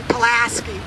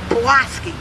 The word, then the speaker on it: Pulaski: that's how you say you don't say palaski you say pki and C don't ask